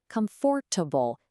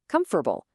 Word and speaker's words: comfortable: Well, that's the actual number of syllables in our next word, even though it totally looks like it should have four. And here it is, comfortable. So many people carefully say comfortable, hitting every single one of those syllables. But native speakers, we get lazy. We just kind of smush it all together. It becomes comfortable. Three quick syllables.